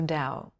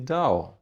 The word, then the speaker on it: Dao: And we said, maybe Dao, Mr. Dao, then later Master Dao. And why Dao? It were short, and Dao, it is pronunciation in different language like Tao, connected to Taoism.